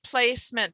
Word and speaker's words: placement: silent there place meant it's not placement it's placement because i was aware of that suffix and e it's on your flowchart and e in front of a consonant suffix is silent okay here we go